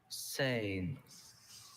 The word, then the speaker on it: seine: Seine. S-E-I-N-E.